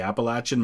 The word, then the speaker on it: Appalachian: place that basically the Appalachian Mountains and that is how it's that is how it's pronounced by the majority of people who live in what we call Appalachia um that run right